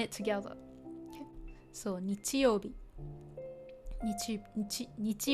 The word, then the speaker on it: 日: So 日 not this he. Oh, says he as in, let's see. If you say いい日, for example, means good day. Okay, so again, this is just pronounced with 日.